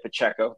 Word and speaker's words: Pacheco: seen in Kansas City with our guy Isaiah Pacheco that's that's the right way to say his